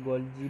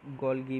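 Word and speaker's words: Golgi: गोल्गी apparatus, कहीं जगह पर इसको गोल्जी भी कहा जाता है और कहीं जगह पर गोल्गी भी कहा जाता है।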